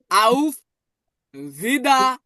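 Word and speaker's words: Auf Wiederhören: আমরা কিভাবে বিদায় নিতে পারি তখন আমরা বলব আউফ জিদা দেখুন ওর আছে তাহলে ওটা কেমন উচ্চারণ হবে এজন্য কি হয়ে গেছে আরটা কিন্তু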